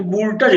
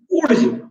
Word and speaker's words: Wurtz: करो, वोल्टज है ना, इसको तुम लोग बोला करे थे 11th में वोल्टज अभिक्रिया। तो सही इसका जो उच्चारण है क्या है, ऊर्ज, WURTZ, ऊर्ज अभिक्रिया कहते हैं इसको।